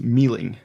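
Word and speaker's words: Myling: Scandinavians it's this one it looks weird but it's pronounced Mealing Emilia yeah it's my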